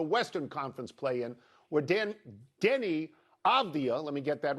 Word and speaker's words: Avdija: I'm not going to get into Avdija, even though I'm finally pronouncing it correctly.